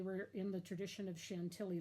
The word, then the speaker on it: Chantilly: in the tradition of Chantilly lace or chantey lace with a rose ground filling and she thought well that's different cause Chantilly normally or Shen te is supposed to be pronounced as normally does not